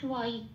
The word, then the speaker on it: ত্বয়ী: তাইতে আমি একটু লাল দিয়েছি কারণ নিচে ব আছে, ওটা একটু প্রকটভাবে উচ্চারণ করতে হবে, ও প্লাস অ ব, তাহলে হবে ত্বয়ী, ত্বয়ী নাম।